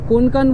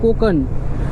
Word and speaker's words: Konkan: কোনকান বললাম বাট এর উচ্চারণ এখান থেকেই জানলাম যে কোকান।